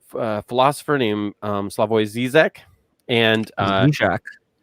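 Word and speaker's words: Žižek: philosopher named um slavoy zizek and uh jack what's that zijak yes zizek yeah that's probably the better pronunciation i think it's closed but uh and i've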